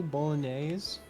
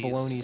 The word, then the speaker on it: bolognese: There's pizza, spaghetti, bolognese, chicken casserole, chili concarnne, chicken pie. I have no idea how to pronounce bologn bologn. Bologoney sauce. Bolognese. Yeah.